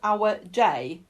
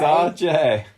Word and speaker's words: RJ: Because I originally thought his name was Our J. So it's RJ. It's RJ. Yeah, but it's RJ. Yeah. Not Our J.